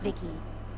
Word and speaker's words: VICI: looking for you yep i'm vici pronounced vicky came out here to